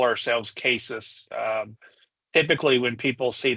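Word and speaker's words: CASIS: and forgive me County we we call ourselves cases um typically when people see that they do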